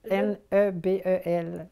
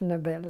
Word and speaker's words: Nebel: Nobel, N-E-B-E-L. Nebel, si vous voulez, à l'autrichienne, mais on prononce Nobel à la française.